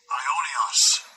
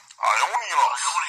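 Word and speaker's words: aionios: Ionios. Ionios.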